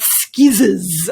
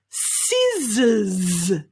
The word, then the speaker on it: scissors: lesson is the scissors it's definitely not scissors okay the pronunciation is c z so really that z vibration sound z z z si z scissors scissors well done excellent